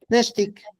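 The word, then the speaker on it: nextic: Al color gris le llamaban Nesh, acuérdense, la X como SH. Neshtik, Nesh, ¿ok? Neshtik, Neshtik, pronunciando más fuerte Nesh y suavecito el tic.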